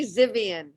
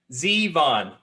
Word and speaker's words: Zevon: And I know, and I say Zivian. Zivian. Oh. How do you say it? Zevon. Yvonne. Yep. But it looks like, so it doesn't have an I after the V?